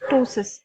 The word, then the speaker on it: ptosis: P is silent here, so remember it is ptosis.